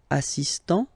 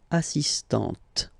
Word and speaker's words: assistant: Il est assistant. So don't pronounce the final t here. But for the feminine form, elle est assistante.